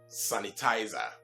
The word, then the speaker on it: sanitize: Now, this is simply because the root word, as you find on your screen, is also not pronounced sanitize, but what? Sanitize. It's not pronounced sanitize, but what? Sanitize. When you pronounce it as sanitize, then that's the stress form usually associated with our Nigerian friends or our Nigerian brothers and sisters that we usually